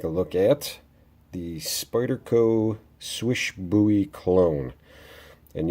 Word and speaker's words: Slysz: swish buoy clone and yes I said swish not sleek happened to watch a video that is from Spyderco and apparently the way it's spelled is not the way it said it said swish so but let's go